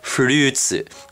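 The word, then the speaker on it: フルーツ: are kai gara so fruit is actually pronounced fruits in japanese and shells are and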